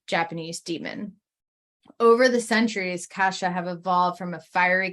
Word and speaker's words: Kasha: in a minute but Kesha yes not Kesha Kasha is what I'm going to pronounce it as to create a difference um it's one of